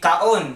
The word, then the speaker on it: kaon: So every vowel is its own syllable, and they are not connected. They're all different syllables. So this would be kaon.